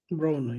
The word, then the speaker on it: Broner: We also talked about Adrien Broner. Is that how you pronounce his last name? Broner, right? Broner, yeah.